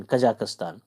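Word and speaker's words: Kazakhstan: जेड ए के एच एस टी ए एन कजाकिस्तान तो इसको कजाकिस्तान बोले कजाकिस्तान के जस्ट नीचे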